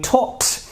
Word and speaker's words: talked: when it is unvoiced so if I take e D the inflection Edie so we pronounce where the T sound I talked she talked I talked